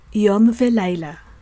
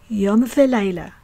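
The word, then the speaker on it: יום ולילה: first example we have yom velaila yo means day lila means night and here the prefix vav letter vav is pronounced as v that means and yom velaila yom velaila that means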